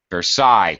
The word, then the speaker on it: versa: is vers ver ver Versa uh second syllable stress many words in English